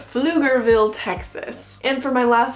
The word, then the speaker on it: Pflugerville: a really funny name, and I think it's pronounced Pflugerville? Pflugerville, Texas.